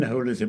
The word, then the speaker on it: holism: And by the way, Marcus I appreciate his pronunciation of holism, which is exactly how Smuts pronounced it.